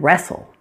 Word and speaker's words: wrestle: Sometimes you'll find words that begin with WR. In this case, pretend it is just an R. That W is silent.